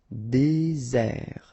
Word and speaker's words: désert: Okay, remember, final T not pronounced. Désert.